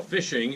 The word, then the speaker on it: phishing: engineering first of all phishing is spelled with a pH not an F correct but pronounced the same way and tell us a